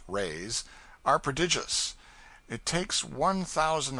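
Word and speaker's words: réis: from the Portuguese pennies or Rays pronounced rays are prodigious it takes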